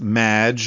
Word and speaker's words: Maginot: have mispronounced my name it's madge which rhymes with badge uh as in duh and no as in more than you maginot anyway